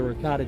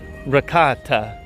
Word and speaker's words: ricotta: Yeah, so Sean tells me that it's not ricotta, it is ricotta.